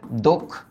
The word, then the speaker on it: দক্ষ: দক্ষ। কারণ আমরা জানি আদ্য অ এর পরে যদি খিয়ও বসে তাহলে এই অ এর উচ্চারণ অ এর মত হয়। তাহলে এটার উচ্চারিত রূপ হবে দক্ষ।